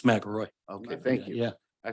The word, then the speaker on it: McElroy: And I'm sorry if I said your last name wrong, because everybody's saying it different. It's McElroy.